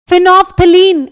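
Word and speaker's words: phenolphthalein: फिनोफ्थलीन L silent होता है।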